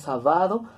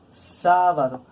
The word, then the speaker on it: sábado: está terminada en vocal si nosotros los dejamos sin tilde tiene que sonar como palabra grave y pronunciar la salvado nunca pronunciamos sábado nosotros pronunciamos sábado y última en última